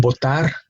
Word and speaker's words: botar: Now, those are two different verbs that are pronounced exactly the same, and the only difference is their spelling. The initial letter for one is V, the initial letter for the other one is B, but we pronounce it the same.